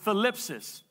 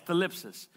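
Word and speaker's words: thlipsis: Now, the word tribulation comes from a Greek word, thalipsis. It's spelled T-H-L-I-P-S-I-S, thalipsis.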